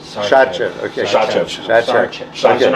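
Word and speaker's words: Šarčev: Sarchev. Shatchev. Okay. Shatchev.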